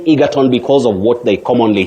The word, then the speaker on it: Egerton: say egerton, not egerton. Egerton, very common but wrong. Yes. That name is pronounced egerton, not Egerton.